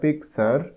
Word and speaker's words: picture: দেখো এতে বলা হচ্ছে লুক অ্যাট দ্য পিকচার। এই যে ছবিগুলো রয়েছে, লুক, LOOK, লুক, লুক মানে দেখা। অ্যাট দ্য পিকচার, PICTURE, PIC pick, TURE, এটা টার হয় না, উচ্চারণ হয়ে যায় পিকচার।